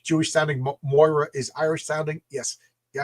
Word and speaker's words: Moira: Not Myra mc pronounced Moira. Yes, you're absolutely right. You know, like like in uh like in Shitz Creek. Moira. Moira. You know, I say Myra.